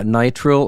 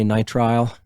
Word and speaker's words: nitrile: Yeah, nitrile, or some people say nitrile. I actually looked it up before this. You can pronounce it either way.